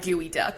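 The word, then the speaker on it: geoduck: ] it up and we called it gooey duck cuz like imagine I'm sure it probably just like sounds pronounced like that sort of but it's not spelled like that yeah it's like the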